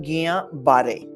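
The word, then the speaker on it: Guillain-Barré: पहले इसको कहते हैं कि इसका प्रोनाउंसिएशन है गियाबारे, गिया GUILLIAN। ये जो LL होता है वो 5 रोमांस लैंग्वेजेस होती है। LL होता है, उसका प्रोनाउंसिएशन स्पेनिश में य होता है, और फ्रेंच में य से थोड़ा कम, गिया गिया।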